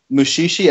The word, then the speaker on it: Mushishi: Mushishi, I'm guessing that's spelled Mushishi?